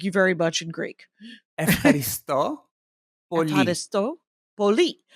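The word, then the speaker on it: Ευχαριστώ πολύ: Epharisto Poli. Epharisto Poli. Oh, accent on a different syllable.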